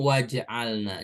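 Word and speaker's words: وَاجْعَلْنَا: Kalau dipisah bacanya begitu wa ij'alna, tapi kalau digabung waj'alna.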